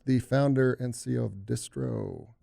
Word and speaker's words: Distro: Bistro yeah yeah Bistro distro distro but I would say like 20 of the times people say Bistro which throws me off a little bit but this throw is the proper way to say it it's your company